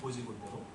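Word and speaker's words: 곧이곧대로: 곧 이곳대로 해야 되는 쓸 때는 곧이 곧대로고 읽을 때는 고지곧대로라고 합니다.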